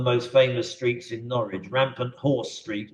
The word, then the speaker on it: Rampant Horse Street: Rampant Horse Street, if you say it wrongly, comes out as Rampant Whore Street.